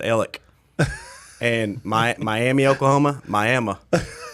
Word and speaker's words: Alex: town right beside us it's spelled alex they pronounced it ellick and my miami oklahoma